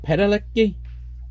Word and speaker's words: Padalecki: Jared Padalecki, that's how you pronounce it, Sam Winchester, was familiar with director